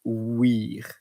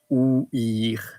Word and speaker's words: ouïr: There is also an old word that is ouïr, O-U-I-R, with the trema on top of the I, because to say I need to pronounce the letter separately. So ouïr, ouïr, it's the old term, the old verb for listening.